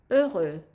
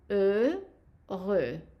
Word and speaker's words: heureux: So the word happy in French, when it's masculine singular, it's heureux. Notice I'm not pronouncing the H and I'm not pronouncing the X either. So heureux, heureux.